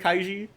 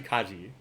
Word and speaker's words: Kaji: Like Kaiji, who I keep pronouncing it Kaiji, but it's actually Kaji, and I spelled it Kaiji.